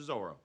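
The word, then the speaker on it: Zoreaux: Give it up to Zorro. Oh, it's pronounced Zorro. I'm sorry. It's French. Zorro.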